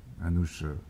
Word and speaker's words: Anouch: Alors, Anouch, le prénom est prononcé Anouch Aschenburg.